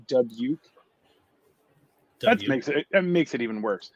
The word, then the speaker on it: Dubuque: It's pronounced Dubuque.